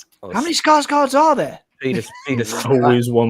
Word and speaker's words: Skarsgård: The actor in the picture here now is Peter Skarsgård, and how many Skarsgårds are there? Peter always one more. You pronounce his name. You pronounce his name Skarsgård. It's slightly different.